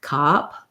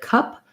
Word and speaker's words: cup: hold them longer and a common error pattern i'll hear is people will do something closer to an ah vowel or an ah vowel where they'll say something more like cop instead of cup because it's hard for them to make that schwa sound that lacks central sound and hold it long enough i like using the